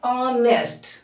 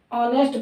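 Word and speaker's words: honest: इसको पढ़ा जाता है क्या? ऑनेस्ट। ऑनेस्ट पढ़ा जाता है, इसमें एस जो होती साइलेंट होती है, तो इसको पढ़ा जाता है किससे?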